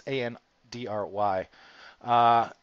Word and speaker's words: Andre: It's Janet, it's Marichu, and it's their brother Andre, or Andre. I can never pronounce it. It's Andry.